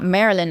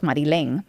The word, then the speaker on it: Marylen: Because it's not Marylen, like spelled like Marilyn Monroe. It's Marylen.